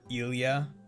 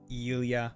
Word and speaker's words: Ilya: It's more of just like what emphasis you kind of put on the I, because it's like Ilya or Ilya. Like, do you pronounce it like an I or an E? Ilya or Ilya? Are you totally ill, or are you eating that eel?